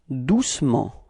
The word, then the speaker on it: doucement: Okay, and then the adverb, doucement. Repeat. Doucement. Okay, so it's the same thing. We don't really pronounce the E between C and M.